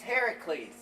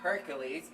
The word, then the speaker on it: Heracles: how it happened either it's heracles not hercules my guess is that